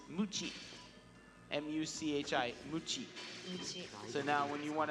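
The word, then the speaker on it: むち: in Japanese is mu chief mu CH AI mu Qi so now when you want to be your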